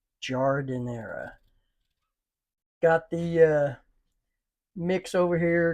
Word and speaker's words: Giardiniera: So, and correct pronunciation of this is Giardiniera. Giardiniera.